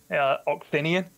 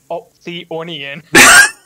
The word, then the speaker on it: Oxinian: You've been calling him Oxionian. Are you serious? Yeah, you've been calling him Oxionian. It's Oxinian. Oxinian.